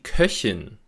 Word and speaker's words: Köchin: Deswegen sagt man zum Beispiel auch der Koch mit Ach-Laut, aber im Gegensatz dazu die Köchin mit Ich-Laut. Nach einem O-Vokal, wie in Koch, spricht man einen Ach-Laut, aber nach einem Ö-Vokal, wie in Köchin, spricht man eben einen Ich-Laut.